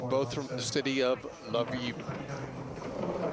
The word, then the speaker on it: Lviv: They're both from the city of Lviv, which some pronounce Lviv. We have a lot of Ukrainian viewers watching today. So if you have a proper pronunciation, please let me know. Lviv, Lviv.